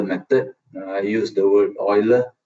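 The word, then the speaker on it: Euler: so at the moment we just focus on Oiler method first yeah so today we just go through this Oiler method I use the word Oiler pronunciation you can call it ul and so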